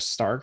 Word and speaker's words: Stark: Yeah, it's It's not Stork. Stork. It's not Stork. It's Arya Stark.